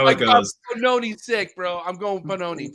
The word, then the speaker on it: Pannone: Did I say it right? Direct Pannone? Close. Pannone. Yeah. Pannone. Oh, I like that. Pannone. Yeah, What is that? It's Italian.